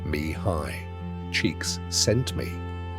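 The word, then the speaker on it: Mihaly Csikszentmihalyi: Mihali Chickik Shent Mihali whose name he once said is pronounced roughly like Mihi cheeks sent me began his research not with a theory but with a curiosity about joy.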